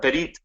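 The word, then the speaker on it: ברית: Um and uh that bite bite is is how it's pronounced in in the Hebrew and how it comes out in in uh in in most passages in the Old Testament.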